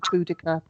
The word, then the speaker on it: Boudica: Um, then also going to the local museum, I found that Chatteris was Boudica's last, it depends how you pronounce it. Some say Boudica, I say Boadicea, but this was her last stronghold, and she put up a good fight.